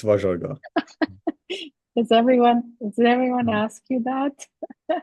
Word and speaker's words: Vajargah: Don't worry, it's Vajargah. It's Vajargah.